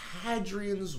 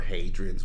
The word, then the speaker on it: Hadrian: Hadrian's Wall Hadrian a I would call them hadrians but that's just me uh oh you're you're a you're a long a for the I'm a short a for the h uh 1985 tensions between